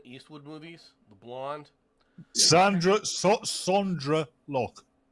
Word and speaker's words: Sondra: of our language it's sondra that's how it's spelled that's how it's pronounced no it's it's you